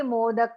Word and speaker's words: मोदक: हैं तो कैसे बोलेंगे मोदक अपने होठों को बंद कर लीजिए मोदक अब और फिर प्रयाय